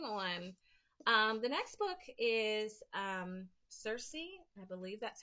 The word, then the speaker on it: Circe: So moving on, the next book is Circe. I believe that's how we're pronouncing that, by Madeline Miller.